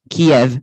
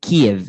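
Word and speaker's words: Kyiv: Many people call it Kiev, which is actually a Russian one. According to the Ukrainian government's website, they mostly call it Kiev, like when you're saying key and if.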